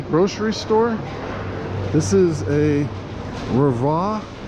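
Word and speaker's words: REWE: This is a Rava, where the W is pronounced as a V, I believe.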